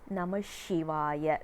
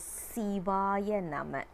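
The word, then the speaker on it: சிவாய நம: It is Sivaya Nama. Also, we are not supposed to say this as Sivaya Namaha or Sivaya Namaka.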